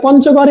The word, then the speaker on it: পঞ্চগড়: হ্যাঁ, এই যে ইও, ইও চ, ইও চ, ইও তো নিজস্ব উচ্চারণ না, ইও চ এর মতো না, ন চ এর মতো, ন চ এর মতো, ইওটা নয়ের মতো উচ্চারণ হচ্ছে।